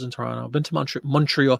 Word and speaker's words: Montreal: Toronto been to Montreal Montreal they don't say Montreal they say Montreal a Montreal like one word Montreal one syllable um that's it yeah